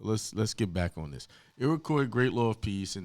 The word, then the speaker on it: Iroquois: The correct pronunciation of that is Iroquois.